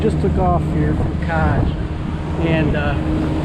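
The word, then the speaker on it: Kaş: Today I'm going to take you on a boat tour off the coast of Kaj, spelled K-A-S with a funny kind of S in Turkey, but it's pronounced J, so Kaj.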